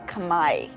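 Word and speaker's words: Khmer: it's actually spoken it's the word is kamay it's not even Cambodian it's kamay the pronunciation and I have tried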